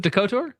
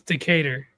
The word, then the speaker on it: Decatur: Doctor, is it dotor? Decator. Decator. It's Decatur. I pronounced that Decatur. Whatever, dude. It is. It is Decator.